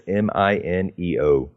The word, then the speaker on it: Mineo: How do you spell that? Andy, like Andy. Yeah. Mineo, it's Mineo.